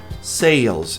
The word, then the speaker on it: sales: Sales. Esse S tem som de Z.